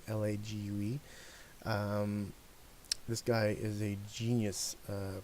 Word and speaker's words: Lague: I think that's how you pronounce his last name, Lague.